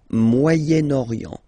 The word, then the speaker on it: Moyen-Orient: So it's interesting here because normally if you would have only this word here, you would pronounce it moyen, moyen, okay? But then as you've got this vowel after, okay, you get to make the liaison between the two, le Moyen-Orient, Moyen-Orient, okay?